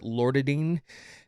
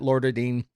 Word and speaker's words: Loratadine: The main ingredient that really helps is, I think you pronounce it Loratadine.